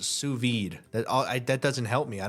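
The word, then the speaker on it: sous vide: They just know it's pronounced suvid.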